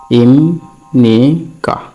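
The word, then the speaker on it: 입니까: আরেকটা আছে এরকম ইমনিকা, ইমনিকা। এটির উচ্চারণ হবে ইমনিকা, কারণ বিউব উপরে নিউন পাওয়াতে ম উচ্চারণ হচ্ছে। এটা হচ্ছে ইমনিকা।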